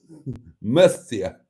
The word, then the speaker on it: Murcia: It's pronounced Muffia. Murcia.